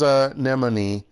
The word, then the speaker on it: anemone: Dictionary says anemone. So there you go. There you go. Oh, okay, I did get it right. Okay. Okay. It's basically not what it looks like. Except I pronounce it as anemone. I had the M in the wrong position then.